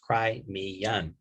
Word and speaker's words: Crimean: vienna treaties was the crimean war pronounced cry me young crimea river okay 1853 to 1856 between